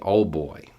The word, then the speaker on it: old boy: Now, in the South, you could also say old boy, which is OLD. It's old boy, but we don't pronounce the D.